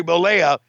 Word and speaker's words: Bollea: How do you pronounce his name? Terry Bollea.